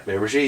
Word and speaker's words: Miramichi: Yeah, Miramichi.